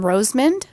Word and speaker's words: Rosemond: And then that is in Rosemond. That's spelled Rosemond, California. So neither. I'll spell it again for you. Rose, like the rose, a flower, and then Mond. Yep, one word.